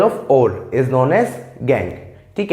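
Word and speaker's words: gangue: Chemistry की लैंग्वेज में, खासकर मेटलर्जी में, उसे गैंग पार्टिकल्स कहा गया है। ठीक है, कई स्टूडेंट्स इसे गंगो पढ़ते हैं। डेफिनेटली इट्स रॉन्ग प्रोनाउंसिएशन, आपको इसे गैंग पार्टिकल्स ही बोलना है।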